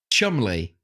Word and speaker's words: Cholmondeley: Cholmondeley. Chumley.